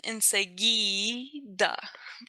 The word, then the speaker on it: enseguida: So that GU is just to make sure that it's a enseguida versus enseguida.